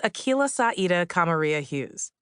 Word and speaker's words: Akilah Hughes: It's 25 letters, 11 syllables, and it rhymes up until the last name. It's pronounced Akilah Hughes. It's Swahili, Arabic, and Irish, respectively. Hughes is the Irish one, to be clear.